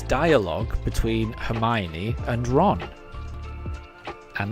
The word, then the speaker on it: Hermione: and it's dialogue between Hermione and Ron. And that is pronounced Hermione, not Hermyan.